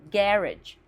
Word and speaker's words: garage: Mais no inglês britânico é pronunciada garage. Garage com a primeira sílaba tônica.